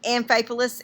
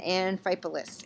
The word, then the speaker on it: Amphipolis: I'm sure the PH is a F. And Amphipolis and Apollonia. Apollonia and Amphipolis.